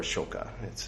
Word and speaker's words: Ashoka: Yes, that is from a movie called Ashok, which you can see here, or Ashoka. They don't pronounce the A usually, unless they're talking to foreigners, so that confuses us